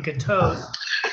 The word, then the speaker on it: Gatosk: And just so everyone knows, the K in Gatosk is silent. so be aware, it's a silent K.